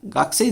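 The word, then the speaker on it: 学生: अच्छा, गाकुसेई अगर आप इसको पढ़ेंगे जापानीज में तो एक गाकुसेई है, बट जब जापानीज में गाकुसेई प्रोनाउंस करते हैं प्योर जापानीज में तो वो गाक्सेई बोलता है, गाकू नहीं बोलते।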